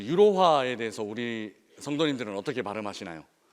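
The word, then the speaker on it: Euro: 이렇게 자연스럽게 말을 하는데 독일어로 표현할 때는 로라고 발음하지 않고 독일 사람들이 유로를 읽어내는 방식으로 아이이로 스바이 오이로 더트 오이로 이렇게 발음하고 있는 제 모습을 보았습니다 그러니까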